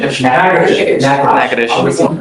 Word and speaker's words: Natchitoches: I butchered the pronunciation, but Natchitoches. What is it? Natchitoches.